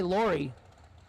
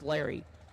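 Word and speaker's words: Laury: We're going to say Lori McGowan Jr. Or do you think they pronounce it Larry? Okay, he did correct us. It's Larry. L-A-U-R-Y.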